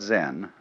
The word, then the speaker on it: Zen: minute silence so then this word zen is Japanese way of pronouncing the Chinese word chan which in turn is